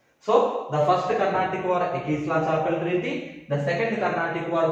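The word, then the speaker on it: Aix-la-Chapelle: Ekisla-Chapel Treaty. Ekisla-Chapel. See, just listen clearly how I am pronouncing. Ekisla-Chapel Treaty. Ekisla-Chapel Treaty.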